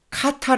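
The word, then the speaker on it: חטא: 고백을 하고 있습니다 그리고 두번째는 카타 라고 발음을 하는 죄 라는 단어가 1절에 나오게 되는데요 자신의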